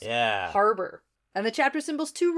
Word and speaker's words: Habor: all right so this is where the issue is in so Habor yes that's how it's spelled but that is not how it's pronounced in the audiobooks yeah Harbor and the chapter symbols